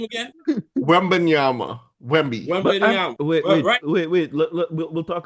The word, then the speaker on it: Wembanyama: Wembanyama. Wemby, right? Sorry, I'm not trying to. I mispronounce for a living. Say his name again. Wembanyama.